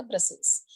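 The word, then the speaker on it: Brussels: Pronunciation ध्यान रखना है आपको, प्रोनाउंसिएशन होगा इसका ब्रसेल्स।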